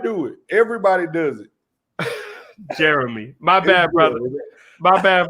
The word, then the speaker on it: Jeromie: correct you later on my name is pronounced jeremy it's just look like jeromey look i've been saying jeromey because my mama watching